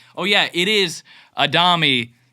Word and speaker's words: Adami: So it's like, oh yeah, it is Adami, right? It is. So, but all that to say, Adami, technical pronunciation.